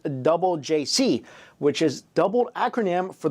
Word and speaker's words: JJCC: boy band called jjcc which is pronounced double JC which is doubled acronym